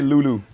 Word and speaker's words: Lulu: À prononcer Loulou.